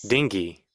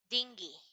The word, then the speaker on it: dinghy: How do we pronounce this? Dingy. Dinghy.